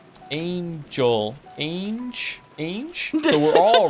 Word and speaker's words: Ange: say that an is pronounced the same as the English word Angel without the L Angel Ang a so we're all wrong